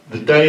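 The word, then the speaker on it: Dey: The Day of Algiers, that's spelled D-E-Y, had been a thorn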